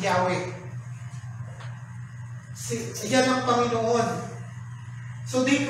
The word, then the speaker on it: Yahweh: Sa Hebrew language, Yahweh yan, yung Y-H-W-H. Sinalin sa English, yun ang bigkas, Yahweh.